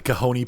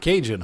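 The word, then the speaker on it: Cajon: that Castle Rock the kahone pass is it it's not cjun huh it's kahone I'm not from California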